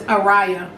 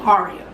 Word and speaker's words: Araya: similar name to mine her name is aria and minds is Araya so a similar aria a riot it could be spelt the same exact way but pronounced differently I doubt if her Z's felt the same way as mine but um I've seen not even seen I've had people call me aria like they see my